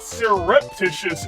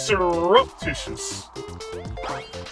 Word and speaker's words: surreptitious: a uh because it's not surreptitious it's surreptitious surreptitious the E is making like it is making like a u sound next thing you're